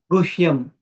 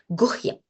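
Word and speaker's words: गुह्यम्: Guhyam. Yes, so H has to be pronounced, okay? Guhyam.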